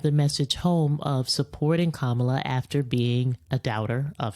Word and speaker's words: Kamala: If a child can pronounce Kamala, then an adult can pronounce Kamala. As the baby said, it's like comma, like in a sentence, and la la la.